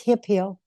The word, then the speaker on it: Hemphill: No, it's hip heel, like a Hemphill.